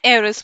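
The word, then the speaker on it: heiress: ठीक है, तो एन एयरस बोलेंगे, एच इज साइलेंट।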